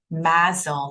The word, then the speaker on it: MASLD: and it is pronounced MASLD, as if there is a Z here.